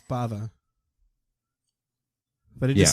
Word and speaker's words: Bava: life I think I kept saying brav Yeah and then you know you watch the movie once and you're like oh it's Bava but it just sounds